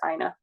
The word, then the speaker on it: Ina: We asked Tunde, and he said it's Ina. So that's from the executive producer. That's how you pronounce it.